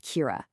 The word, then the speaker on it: Cura: Lenovo's answer to our totally disconnected digital lives is a new platform called Kira. and that's pronounced Kira.